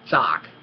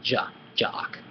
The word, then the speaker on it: จาก: Zock, zock. Zock. You can say it like this, zock. Ma zock nai. Yeah, it's correct, it's understandable. Yeah, it's much better than jock. Ma jock nai.